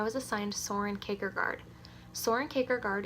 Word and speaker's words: Kierkegaard: assigned Soren Kierkegaard Soren caker guard is Danish so it's kind of tricky to pronounce its Soren cake or guard yeah that took me